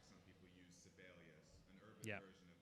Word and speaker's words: Sibelius: like some people use Sibelius, an Urbit Yeah. version of that, you can have that. oh, it's Sibelius. I was pronouncing it like syphilis.